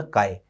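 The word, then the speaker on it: χ: कई इसको एक्स बोल देते हैं, आप एक्स भी बोल सकते हो, कोई फर्क नहीं पड़ता प्रोनाउंसिएशन में, लेकिन इसका सही प्रोनाउंसिएशन काय होता है ना, काय।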